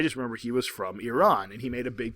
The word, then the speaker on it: Iran: He goes, it's not Iran. Here in the United States, we want to say Iran because that's what it looks like it spells, but it's pronounced Iran.